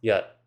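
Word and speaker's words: jat: There are two different words spelled j a t, which is pronounced yat.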